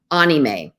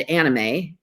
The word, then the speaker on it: anime: to start out with our japanese and hawaiian anime i always said anime because of animation but it's actually pronounced anime something i i learned recently and